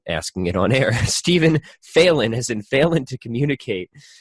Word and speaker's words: Phelan: Stephen Phelan, as in Phelan to communicate.